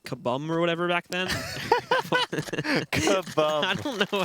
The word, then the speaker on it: KaBuM: Kabum. I don't know how to pronounce. Kaboom, man. Kaboom. Kabum. Oh, It's UM. man. Why wouldn't they spell it OOM if it was kaboom?